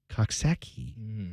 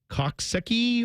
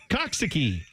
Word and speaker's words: Coxsackie: all one word and they thought you may not know how to pronounce this you might be thinking like cocki or what is it what do you